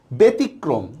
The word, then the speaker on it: ব্যতিক্রম: ব্যতীত, জফলার পরে ই উচ্চারণ আছে এই জন্য হচ্ছে এটার উচ্চারণ এর মতো হবে। ব্যতিক্রম, দেখেন জফলার পরে রস্যই উচ্চারণ আছে এই জন্য এটার উচ্চারণ এর মতো হবে।